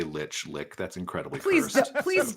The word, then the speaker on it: lich: everywhere at sassy Lich Lich like the undead thing um I heard people say lick you can also say it like that if you want I won't stop you um if you want